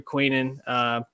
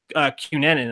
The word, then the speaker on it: Cunanan: I mean, Darren Criss is playing Andrew Quinan, Cunanan, actually. Sorry, but mispronounced that.